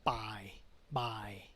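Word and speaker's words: บ่าย: This is by. By means afternoon. One syllable only.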